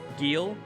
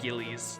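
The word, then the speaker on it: Gilles: It rhymes with real, right? It's Gil? Gil is how you say it. That's how I always remember that name, is that it rhymes with real. It's not Gillies.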